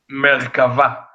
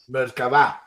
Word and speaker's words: Merkava: It's Merkava. Merkava. Merkava. Yeah. Tell them what it means. What does Merkava mean?